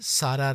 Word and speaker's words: سارا: نام سرا رکھا گیا، جسے عربی تلفظ میں سارا رضی اللہ تعالیٰ عنہا کہتے ہیں، اور